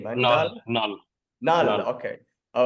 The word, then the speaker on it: Knull: Knull.